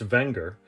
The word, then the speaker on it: Wenger: Technically pronounced Wenger, the company dates back to the late 1800s.